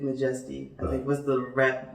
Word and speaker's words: M'Jestie: take out the A, take out the Y, and I just repronounced it as M'Jestie. And it fit better. It was a more humble thing. So it's like not true blue majestic, just a little bit M'Jestie, I think was the